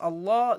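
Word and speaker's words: الله: in soal guys Jal the word Allah if it is preceded by a by The Vow you pronounce it lightly okay like okay now because it is the it is preceded by the you pronounce it uh lightly but if it is preceded by the by the like or then you pronounce it heavily okay that's that's how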